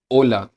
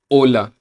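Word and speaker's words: hola: अंदर यूज करते हैं तो एच हमेशा साइलेंट रहता है तो इसको प्रोनाउंस कैसे करेंगे ओला ओला गुड मॉर्निंग को क्या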